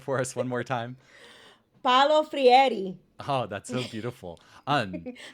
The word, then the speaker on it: Paulo Freire: Paulo Freire.